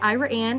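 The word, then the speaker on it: Iraan: check it out hi I'm Kiren um yes Ira Anne is a small but thriving little Community um the pronunciation is kind of unique it was named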